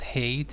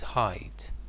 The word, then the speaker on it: height: pronunciation of this word it's not hate it's height so as you have